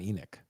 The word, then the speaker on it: Enoch: What's not trash, Natalie, is Captain Enoch. And Enoch is the correct pronunciation according to Thrawn himself. So, I know people say Enoch, but Thrawn said Enoch.